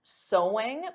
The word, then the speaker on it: sewing: and did you get sewing because of course the pronunciation is the same as so there's no sewing though